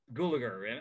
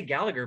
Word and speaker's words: Gulager: The Gulager. I always say Gallagher, but I don't think Gulager.